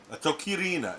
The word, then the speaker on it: Atokirina: Atokirina is how you say this.